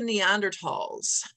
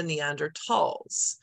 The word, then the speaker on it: Neanderthal: hear them called the Neanderthals so the reason it's pronounced Neanderthal is because it's a German word and the th makes